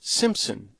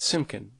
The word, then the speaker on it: Simpson: persists you may say my name is Simpson not simkin at a private dance